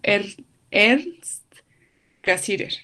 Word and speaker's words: Ernst Cassirer: Bueno, Ernest, bueno, aquí lo pronuncia el compañero, él es el compañero que vieron ahorita, creo que es español, y él lo pronuncia como Ernst Cassirer, ¿no?